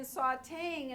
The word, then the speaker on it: sautéing: Remember, this is a French word, and we spell it with an E even though it's pronounced A, and so we keep it.